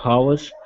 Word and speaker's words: hour: also this one here our is as a silent H okay how our an hour yep it doesn't have an H in it the sound of an